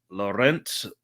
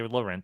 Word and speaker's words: Laurent: Yeah, Melanie Laurent. That sounds about right. It's like Lauren with the T at the end. So Laurent, I'll just say.